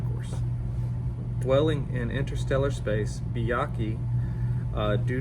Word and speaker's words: Byakhee: for the video uh and this one is byaki let me double check the pronunciation chart on 280 so byaki is how it's pronounced so now let's see the HP Lovecraft